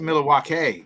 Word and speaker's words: Milwaukee: It's pronounced Milwaukee.